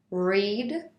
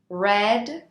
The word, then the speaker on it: read: also pay attention to the pronunciation of the verb read although it is spelled the same in all three conjugations the pronunciation is different read present simple red past simple red past participle for example I cut